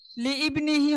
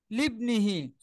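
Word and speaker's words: لِابْنِهِ: Wise ক্বালা লুকমানু লিবনিহি, লিবনিহি, লিইবনিহি হবে না, কি হবে? লিবনিহি। এই হামজাটা চিহ্ন থাকবে না, উচ্চারণে আসবে না, এখানে এই হামজাটা হামজায় ওয়াসলি।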